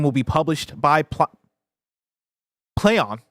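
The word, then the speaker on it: Plaion: be published by pl Play on it's pronounced how it's spelled PlayOn which I always want to say Pon of course p l a i o n uh while the game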